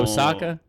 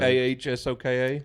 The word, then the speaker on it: Ahsoka: Osaka. Osaka. Yeah. That's a city in How Japan. you spell it? Yeah. AHSOKA.